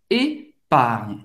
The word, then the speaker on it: épargne: Épargne. Em uma conta poupança, literalmente, né? Épargne. Para fazer esse GN, lembrando, é um pouco mais forte do NH em português, ou seja, épargne. Épargne.